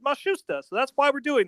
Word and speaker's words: Matsushita: We were calling you Hiro Matsushita, as you see it spelled, but they asked us to pronounce it Matsushita, so that's why we're doing that.